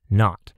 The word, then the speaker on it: naught: that is better but how about we just spell it today's word is n-a-u-g-h-t not and this word means nothing what do you